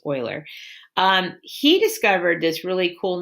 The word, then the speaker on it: Euler: his name's Leonardo Euler I know it looks like you learned but that's not how you say it's Euler he discovered this really